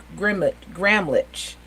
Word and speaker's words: Gramlich: Gramlich? Yeah, it's pronounced with a K at the end. It's German, but close enough.